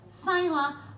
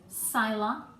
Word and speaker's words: Scylla: of different ways, but I'm going to call these monsters, Scylla and Charybdis. I hope that's the right way to pronounce it. I've actually looked up how to pronounce it and that's how they suggest, so let's go with that.